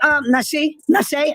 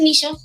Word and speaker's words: Nisha: Let me get Nashe in here. Nashe, that's how you say it? Nah, it's Nisha. Nisha.